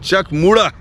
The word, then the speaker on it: Chak Muda: a stupor to this instant incident is called Chuck mura spelling is check muda muda but it is pronounced means she spun her Chariot around folks and then clicked her finger folks Chuck mura is the place and it is between Chuck